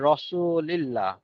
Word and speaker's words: রাসুলুল্লাহ: আপনি রাসূলের শানে মূলত রাসুলুল্লাহ উচ্চারণ করবেন।